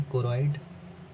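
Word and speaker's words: choroid: Three parts कोइड सी एच ओ आर ओ आई D spelling पर विशेष ध्यान दीजिएगा। गलत नहीं होना चाहिए। कोरॉइड आइरिस और और क्या होता है?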